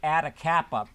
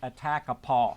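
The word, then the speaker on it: Atakapa: it showed Attakapaw people, and I presume to pronounce that like Atacapa.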